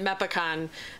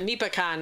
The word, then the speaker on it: MEPACON: um we we have a lot of friends that pronounce it mep akan and has always had pronounced at me pecan as opposed to American and and they'll say to us like well is it wrong and Ed's official position and we have adopted it is I don't care how you pronounce it as long as you're talking about it so however you yeah